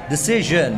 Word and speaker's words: decision: Decision, bacanya pakai j guys. Suara yang paling sulit di bahasa Inggris itu suara j guys.